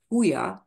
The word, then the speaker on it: Huya: So you have a J in the front, but of course in Spanish, when you have a J at the beginning of a word, you have to pronounce it H.